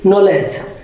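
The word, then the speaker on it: knowledge: এই জায়গায় আছে কি নলেজ, নলেজের কে বর্ণটা সাইলেন্ট এবং ডি বর্ণটা সাইলেন্ট।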